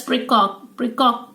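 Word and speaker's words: praecox: Precox is, now this pronounced as precox.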